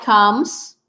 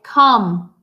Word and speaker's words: come: the word is pronounced please don't pronounce the E this e right here that comes after the M that e is inexistent you say come not come just like